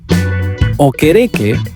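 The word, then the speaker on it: Okereke: O quere que, now I said it right, stated that Lydon was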